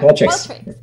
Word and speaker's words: Qualtrics: Yeah, Qualtrics.